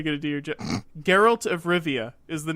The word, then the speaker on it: Geralt: Geralt of Rivia is the name of the main character.